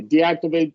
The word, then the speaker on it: deactivate: of the world, but we probably want to go with the schwa with all of these, and a long E with all of these. Certainly, if there's a vowel, right? That you can't go any other way.